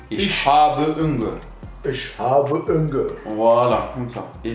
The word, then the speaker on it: habe: Ich hab hungry. C'est pas hab. Le E en allemand, il se prononce comme en français. E. Ich Ich. habe Hunger.